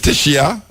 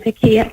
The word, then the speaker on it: Tekia: Is Teshia or Tekia? Actually, it's both. It originated as Hebrew and Tekia. Tekia. Tekia. Okay, so Tekia.